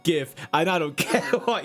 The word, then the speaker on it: GIF: No, it's not pronounced YIF, mate.